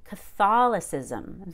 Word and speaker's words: Catholicism: it's arabic catholic but let's pretend it's a noun catholicism then we stress that short o fall catholicism and then the ca becomes k it's reduced to k but when it's an